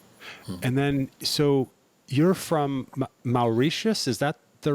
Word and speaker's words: Mauritius: And then, so you're from Mauritius, is that the right way to Yeah, pronounce I that?